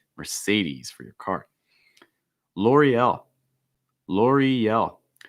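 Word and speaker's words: L'Oréal: mercedes for your car l'oreal laurie yell i think a key thing here is the e-l e-l so linking that e sound with the l sound with that slate y e-l l'oreal l'oreal nestle so and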